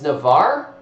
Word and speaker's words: Navarre: hour a little over hours and you don't pronounce the e at the f vicky it's navarre okay all right thank you i appreciate that